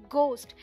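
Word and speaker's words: ghost: होते हैं नहीं होते क्योंकि हम घोस्ट बोलते ही नहीं है यहां पर एट साइलेंट है ये है घोस्ट वैसे घोस्ट होते हैं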